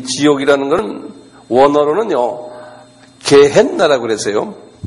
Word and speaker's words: 게헨나: 영어로는 헬이라고 그러는데 이 지옥이라는 것은 원어로는요 게헨나라고 그랬어요. 제가 영어로서 게헨 N이 두 개예요. 게헨나 G-E-H-E-N-N-A 이렇게 헨나 이렇게 한 발음해 보실래요?